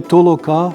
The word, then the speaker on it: толока: товкти толочити другий висновок значення толока як гуртова праця має наголос на останньому складі в Болгар білорусів і